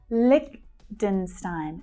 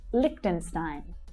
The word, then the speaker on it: Liechtenstein: Liechtenstein. Lich is the strongest syllable. Liechtenstein. Stein. That's the I as in by vowel sound. Liechtenstein.